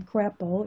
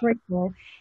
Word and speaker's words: Crapo: current chairman in Idaho, I pronounce his last name Crapo, it's actually Crapo, is standing in the way of even this being discussed.